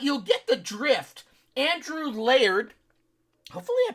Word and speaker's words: Laird: It's not L-A-R-D. L-A-R-D would be lard. This is L-A-I-R-D, so I would say it's layered. Layered, like you're layering pizza. You're layering a lasagna.